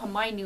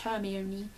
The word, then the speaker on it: Hermione: right but then again I thought Hermione was pronounced herion so my pronunciation when